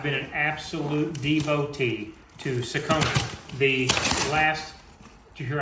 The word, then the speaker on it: Saucony: Now, you guys know on this channel, I've been an absolute devotee to Saucony. The last, did you hear how I pronounce that? Saucony.